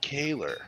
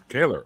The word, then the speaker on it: Koehler: So for verification, it's actually pronounced Koehler. Koehler.